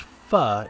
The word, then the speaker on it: pho: spicy vietnamese soup it's spelt p-h-o but it's pronounced fa in vietnamese i'm not sure if the owners